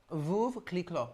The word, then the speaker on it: Veuve Clicquot: Veuve clicquot. No, that's good. Thank you. You said it right, I must say. Veuve clicquot.